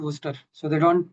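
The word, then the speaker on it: Worcester: In major majority of the country it is just called worster. So they don't pronounce the sh itself.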